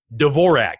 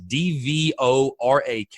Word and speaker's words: Dvorak: return right-handed pitcher Liam Dvorak which if you look at his name you'll know why I pause it's dvo RAK it's you literally pronounce it how it's spelled Dvorak so Liam Dvorak selected